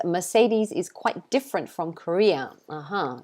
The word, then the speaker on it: Mercedes: just say mercedes though mercedes i think in the original language they say mercedes but we don't say des we say deez mercedes like that um charles is